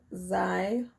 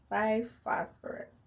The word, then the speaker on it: Xiphophorus: Okay, this one is tricky, but this X is going to make a Z sound. So it'd be Xiphophorus or Xiphophorus. It kind of sounds like a dinosaur of some sort, right? Xiphophorus.